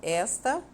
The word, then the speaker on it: esta: e na segunda então na palavra destacada esta a sílaba tônica é o és e esta Jana palavra